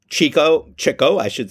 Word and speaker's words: Chico: Chico, I've learned from Noah how to pronounce that name correctly.